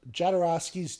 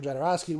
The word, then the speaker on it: Jodorowsky: It's called Jodorowsky's Dune. I believe I'm pronouncing that name right.